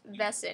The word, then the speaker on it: Wesen: the world called Wesson the German word for creature being pronounced vessen here no TV don't